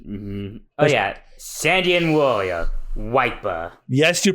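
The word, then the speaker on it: Wyper: him before remember mhm oh yeah sandan Warrior wiper yes you pronounced that right his name is wiper I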